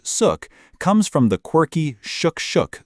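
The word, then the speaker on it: Xuc: Born in the 1940s, the name Shook, pronounced Suk, comes from the quirky shukshook sound made by the clarinet in traditional folk music.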